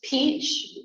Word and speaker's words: Peach: ma'am what's her name it's Peach like the fruit okay and the last